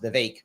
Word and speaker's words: Vivek: His name is pronounced Vivek, not Vivek. I thought it was pronounced Vivek. It's pronounced Vivek.